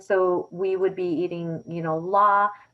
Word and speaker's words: larb: And so we would be eating, la, which is like pronounced larb, lab, in different ways, depending where you're, buying the food from.